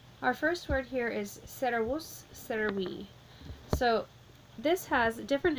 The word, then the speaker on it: servus: It's a two-syllable word, so the accent is going to go on the first of the two syllables. So, servus and servi.